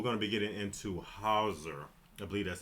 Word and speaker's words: HAUSER: We're going to be getting into HAUSER. I believe that's how you pronounce it. It's HAUSER.